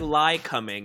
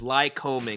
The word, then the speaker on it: Lycoming: It's spelled like lie coming, but it's lie combing like you're combing your hair.